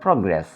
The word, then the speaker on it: progress: Now this is a word, this is a verb. Since this is a verb, we should stress on the second syllable. Res, progress.